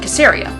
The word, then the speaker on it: Caesarea: You would recognize it as Caesarea, because it's named after Caesar, but in Israel it's pronounced Caesarea.